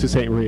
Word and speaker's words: Sault Ste. Marie: Now, my hometown is a town called Sault Ste. Marie. That's how it's pronounced, Sault Ste. Marie. It's a French word.